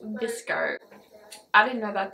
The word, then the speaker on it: VSCO: And then I go to VSEO. And it's pronounced VSCO. I didn't know that at the time, I just said VSEO because I thought that's how you say it.